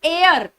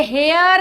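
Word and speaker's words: heir: इस शब्द के अंदर, इट इज एयर। ये हेयर नहीं है, ये एयर है। ए से शुरू होता है इसका प्रोनाउंसिएशन, तो आंसर होता है एन।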